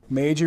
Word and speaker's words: Meiji: their country it is an M rhymes with crazy major restoration right modernized westernized Japan